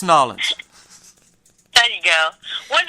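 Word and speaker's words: N'Awlins: Nolans.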